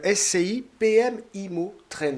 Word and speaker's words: SCI PM IMMO TREND: Cette UC, c'est SCI PM IMO Trend. Je l'ai bien prononcé, c'est bien ça ?